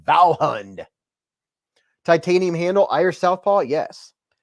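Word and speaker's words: Vallhund: Alex said, or is it pronounced Walhund? I know it could be. It's spelled V-A-L-L-H-U-N-D. Valhund.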